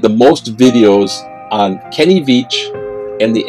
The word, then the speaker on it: Veach: Well, this is a story of Kenny Veach, that's Beach spelled with a V, and the M Cave.